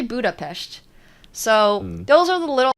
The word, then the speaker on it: Budapest: of the time in the western world and pronounce it Budapest but it's actually Budapest so those are the